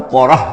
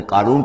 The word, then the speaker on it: قارون: قوم ہی سے تھا۔ تورات میں اس کا نام قورہ آیا ہے، یعنی قارون کے بجائے قورہ، یہ کوئی تلفظ کا فرق ہو سکتا ہے۔ فبغى علیہم، اگرچہ موسیٰ